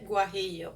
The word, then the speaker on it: guajillo: Now, it has something that's called chile guajillo, and I'm going to show you what they look like.